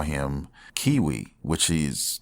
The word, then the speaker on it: Cui: and his name is cui some people call him cui some people call them cui cui and others call him Kiwi which he is his name and how you pronounce it in the manga but yes he was